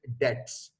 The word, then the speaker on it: debts: in boy that sound is silent so we pronounce it dex so write off bad debts the next word